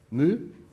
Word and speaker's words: mu: You also see here a angle, mu. The speed, mu, yeah. What's the proper English pronunciation?